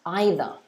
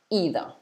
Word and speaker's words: either: in a different way it can also be pronounced either like this either or either okay so notice the difference in pronunciation again